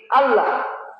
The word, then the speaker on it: আল্লাহ: গিয়ে বলতে গিয়ে বলি আল্লাহ আসলে আল্লাহ শব্দের মূল উচ্চারণ হবে আল্লাহ এখানে লাম বলতে গেলে দুটি গোল করে বলতে হবে আপনারা বলুন আল্লাহ